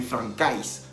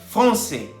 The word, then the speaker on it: français: La AI en francés se pronuncia E. Entonces, por eso dice Tomás que je suis professeur de français. Y no está diciendo, en ningún momento está diciendo que je suis professeur de francais. Así no se dice.